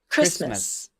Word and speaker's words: Christmas: Christmas. Christmas. Did you hear a t sound?